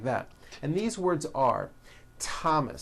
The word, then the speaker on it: Thomas: spelled with a th they are pronounced as if they were spelled with a normal t t like that and these words are Thomas Thomas Thompson Thompson Teresa Teresa